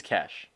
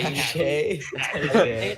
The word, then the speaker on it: cache: Wiz is asking if you pronounce it as cash or cache. It's cash. It's cash. I Cache.